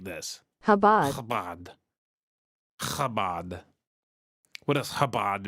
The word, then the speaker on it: Chabad: Below is a link, hopefully it works, of a documentary from 1992 on Chabad, the Hasidic sect you saw in the news digging tunnels in their main synagogue.